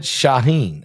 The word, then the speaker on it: Shaheen: strike killed Muhammad shashin Muhammad shahen that's how you say it Muhammad shahen the head